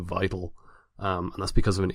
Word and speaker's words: Vital: at the top that I have always pronounced it Vittal as opposed to vital and that's because of